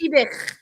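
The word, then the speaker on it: Fiebich: Fibic. It's like a. Okay. I've always pronounced that.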